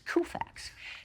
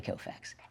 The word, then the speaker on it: Koufax: I mean, I didn't know anything about sports, so I pronounced it the way it was spelled, which is Koufax.